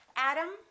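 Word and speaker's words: atom: me o'clock doctor photography let's look at one more word adam adam exactly the same pronunciation this syllable is stressed this syllable is stressed this o is reduced this a is reduced therefore they are the same sound and remember t between two vowels sounds exactly like the d adam adam let's practice a few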